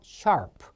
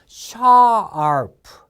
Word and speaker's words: sharp: 자, 요 R 발음이 자꾸 나오는데 지금 하죠. sharp. 알겠죠? 그래서 R 발음은요. 아 하면서 이 혓바닥이라고 생각하면은 입천장에 닿지 않은 상태에서 꼬부라집니다. 그래서 R 해보세요. R. 다시 한번 R. 그래서 sharp가 아닙니다. sharp. 입천장에 닿지 않은 상태에서 최대한 구부리세요. sharp.